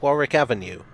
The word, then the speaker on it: Warwick Avenue: applies to buckingham palace there's a rule that applies to both chiswick park and warwick avenue a silent w before the ick i